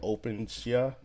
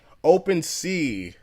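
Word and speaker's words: OpenSea: online nft store called openshia i might be pronouncing that ride is it ocean shia or open shia one way to find out open c open c and wow so openc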